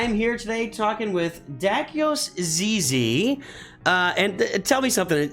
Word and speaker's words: Dakyos Zyzy: too good I am here today talking with dakios Zizi uh and tell me something am I I've